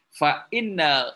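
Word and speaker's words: فإنّ: Fa inna ghoda al qalbi fa inna. Jadi kalau hamzahnya di bawah alif bacanya inna. Kalau ada kepala hamzah di atas alif maka membacanya fa anna.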